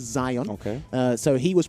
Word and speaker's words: Zion: wrong i do apologize i said zeon it is zion okay uh so he